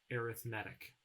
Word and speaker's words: arithmetic: facilitated by arithmetic but when we take the noun of arithmetic and we use it as an adjective to describe a sequence we pronounce it arithmetic in example 2 we're